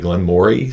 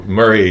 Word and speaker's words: Glen Moray: But Glen Moray, it looks like Glen Moray, so people call it that. And so I get arguments on that too. But it's like, I can't do it with a Scottish accent. So Murray is kind of it's subtle in how you make it more Murray than Moray.